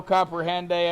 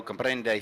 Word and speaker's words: comprende: No comprehende español, senor? That's actually no comprende español, senor. You gotta roll your R's in Spanish.